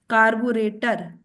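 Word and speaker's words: carburettor: double T ओ R again there इ stress on टी कार्बोरेटर तो double T ओ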